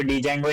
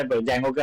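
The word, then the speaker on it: Django: जंगो और माय स् इसको डी जंगो नहीं बोलते जंगो बोलते है डी साइलेंट होते है ठीक है तो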